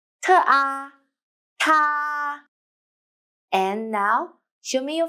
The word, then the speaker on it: 她: I will teach you how to pronounce it, how to write it, and how to use it. 她, 特啊, 她.